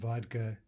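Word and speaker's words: водка: And vodka, D, devoicing to T. Vodka.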